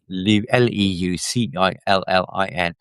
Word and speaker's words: Leucillin: Lucillin is spelled Leu. It's like a white blood cell with a leukocyte. Okay, it means white, I presume. Alan, Lucillin, Leucillin.